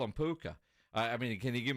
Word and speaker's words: Puka: over there I'm like how do you say uh this kid's name and he was like oh we we call him puka like all right what